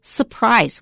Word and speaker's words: surprise: Wesley we noted that if there are two RS in a word separated from each other we often don't pronounce the first one for example surprise we don't usually say surprise we say surprise and we usually say caterpillar we don't say cat pillar and you notice that